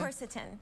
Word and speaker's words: quercetin: And also quercetin, am I pronouncing that correctly? Quercetin. Okay.